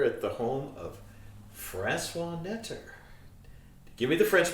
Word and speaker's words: Netter: I'm Michael Orwig, and I'm here at the home of Francoise Netter. Give me the French pronunciation.